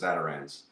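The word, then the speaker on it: Zatarain's: It's called Zatarans. It's spelled A Ns. Zatarins ne, but it's if you go to their website, their executive chef chef says Zatarans.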